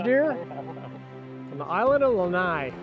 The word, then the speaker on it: Lanai: First axis deer from the island of Lanai. Lanai-E, the locals pronounce it.